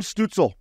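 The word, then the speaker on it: Stützle: Stutzel, that's how you say it.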